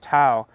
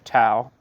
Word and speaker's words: Tao: addressed to, the Stalinist Tao, and it fell into the hands of another Tao. See, I'm mispronouncing the name. The Stalinist Tao, T-A-O, and it fell into the hands of Tao, T-A-U, a Trotskyist.